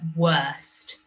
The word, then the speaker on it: worst: we've got the word worst and you can hear that er sound what erst worst but they've spelt it with an o r because it's after a w this word says worm